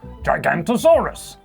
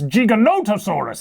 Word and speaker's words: Giganotosaurus: the letter G for gigantosaurus and by the number I that's not how it's pronounced I don't think oh there's an o in there so it's so it's Giganotosaurus then I don't know the